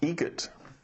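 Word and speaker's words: Eget: How do you say the name? Adam Eagel. Like the bird.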